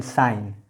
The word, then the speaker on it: sign: जैसे देखिए SIGN साइन, यहाँ पर जी का उच्चारण नहीं किया जा रहा है।